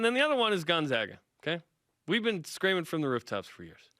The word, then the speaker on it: Gonzaga: It's Gonzaga. Gonzaga.